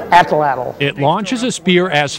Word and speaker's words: Atlatl: Atlatl. It isn't spelled that way, but that's the way you pronounce it, huh?